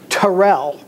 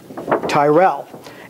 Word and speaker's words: Terrell: So we've always pronounced it Terrell. In fact, his name was Terrell, not Tyrell.